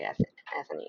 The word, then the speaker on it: Ethany: I am not sure I'm pronouncing your name correctly, Ethany, actually. Is that how you pronounce it? It is, you got it.